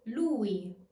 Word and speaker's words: lui: Strong U plus E. Ui. Ui. As in lui. Lui.